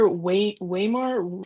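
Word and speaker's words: Waymar: I hope that's how you pronounce it. Sir Wayar Royce.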